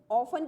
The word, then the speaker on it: often: For this reason, the bones are often referred, ऑफन की spelling है OFTEN, ठीक है, उसमें टी साइलेंट रहते हैं इसलिए उसे ऑफन कहते हैं।